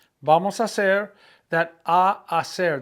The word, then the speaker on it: hacer: Vamos a hacer, that a hacer, the H is silent so they run together.